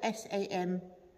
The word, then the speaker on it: Samhain: Halloween's origins date back to the ancient Celtic festival of Samhain, which is spelt S-A-M-H-A-I-N, but I'm assured it's pronounced Samhain.